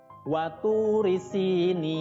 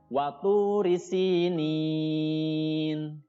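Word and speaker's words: وَطُورِ سِينِينَ: Tapi karena bertemu dengan nun yang disukunkan di akhir kalimat, namanya berubah menjadi mad arid lis sukun, panjangnya 2 sampai 6 harokat. Jadi dibacanya waturi sinin.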